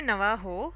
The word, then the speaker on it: Navajo: know it should be Navaho I would say I don't know the exact pronunciation again but it should be Navajo because they don't pronounce most of the cultures don't pronounce j s j okay so most of